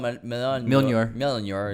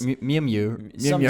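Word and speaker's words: Mjölnir: Yeah, when Captain America picks up the hammer, whatever it's called, Mjolnir. Yes. Mjolnir. Some dude that comes to me, it's actually pronounced Mjolnir.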